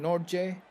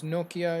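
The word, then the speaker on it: Nortje: his name is Nokia, even though I was pronouncing Nordje. Seems Nokia is the way to pronounce his name.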